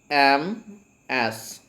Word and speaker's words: Ms: If before we go, actually see, if I talk about females, we have one more title for female, that is MS, and it is pronounced Ms.